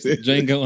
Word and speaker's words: Django: The D is silent. Okay. So, it's Unchain. on Jango Unchain.